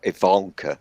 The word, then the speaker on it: Ivanka: got bored one day because Ivanka Trump or Ivanka as you guys would pronounce it was just annoying me